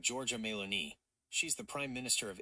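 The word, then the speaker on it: Giorgia Meloni: Her name is Georgia Melon. It's pronounced like Georgia Melon.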